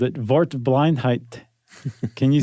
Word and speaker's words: Wortblindheit: And they it was a German who who coined that term and they called it "Wortblindheit".